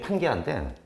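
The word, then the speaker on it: Pangaea: 지금 여러분이 본 게 판게아인데 판게아라고 읽으시면 되는데 그리스어예요 사실 이게. 여기서 이 판도 사실 여기서도 아마 저기 같은 그리스어니까 모든이라는 뜻이고 가이아라고 읽을 수도 있거든요. 게아 또는 가이아 이렇게 읽을 수 있는데 왜 지구 대지를 갖다가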